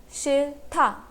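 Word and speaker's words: 싫다: So it will be pronounced as only leer. Shiltha, shiltha.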